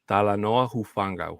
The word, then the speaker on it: Talanoa Hufanga: to say it better than I can uh tala Noah huanga you got it yeah that's pretty good yeah talanoa hufanga who is the new safety for the Broncos